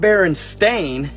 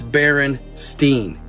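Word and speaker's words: Berenstain: was spelled including myself it's not bearing stain it's Baron Steen but that's not why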